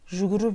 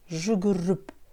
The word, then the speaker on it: жүгіріп: Жүгіріп, жүгіріп. А буква «п» в слове «жүгіріп» «п» произносится как «б».